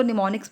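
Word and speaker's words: mnemonics: Am silent होता है students, इसको निमोनिक्स बोलते हैं.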